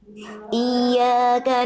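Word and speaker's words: إِيَّاكَ: Oke, dia bertasdidnya Bunda, ya. Di apa tuh namanya ditekan. Ya tasdidnya dia cara bacanya naber. Naber itu ada penekanan yang lebih kuat pada huruf ya bertasdid sehingga nadanya seolah lebih tinggi dibanding nada yang lain. Iya, bukan iya.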